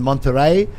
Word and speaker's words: Monterrey: I don't know if you saw the match down in Monterrey, Mexico. Oh, there you go. Man, that stadium, wow. Yeah. I pronounced it right, too, because there's someone in